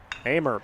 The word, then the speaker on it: Hamer: Jim Thompson even pronounced his last name right. Got it, yep. Hamer, big swing.